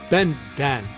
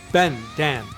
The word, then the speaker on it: 笨蛋: Bendan. 笨蛋. Bendan. 笨蛋. Bendan.